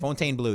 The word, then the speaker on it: Fontainebleau: Fontainebleau, yeah.